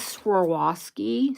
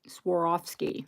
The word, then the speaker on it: Swarovski: Diamond ears little little catbots um this is swasi Swarovski yeah I said it right Swarovski there you go that's a collectible sovi kitty